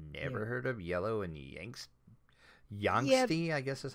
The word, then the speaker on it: Yangtze: I've heard of Tigers and Euphrates, but never heard of Yellow and Yangsty, I guess is how you pronounce that. Yangtze is usually how I pronounce it.